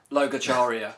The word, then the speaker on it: Logacharya: Logacharya. Logacharya is the name of the new album. Yeah. So now you know how it's pronounced, okay?